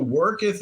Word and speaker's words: worketh: My superior nature worketh through So worketh is pronounced worketh. thee. That's not a common one. It's like earth.